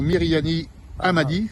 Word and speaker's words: Mirihani Ahamadi: également Myriani Hamadi. C'est bon, c'est pas trompé dans la prononciation?